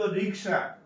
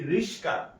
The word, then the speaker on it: রিকশা: সঠিক শব্দ রিকশা, আমরা বলি রিস্কা, হ্যাঁ।